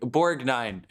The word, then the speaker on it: Borgnine: fuck borgne ernest borgnine it's okay to pronounce the g in this case borg borgnine yeah academy award winner